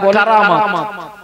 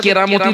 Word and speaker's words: কারামাত: ঘটনাগুলো ঘটে তাকে বলে কারামাত। কি বলে? ওই যে আমরা দেখবেন অনেকে বলে যে অমুক পীর সাহেবের কেরামতি দেখেছো, এরকম আছে না, কথা আছে না? আসলে ওর শুদ্ধ উচ্চারণ হচ্ছে কারামাত।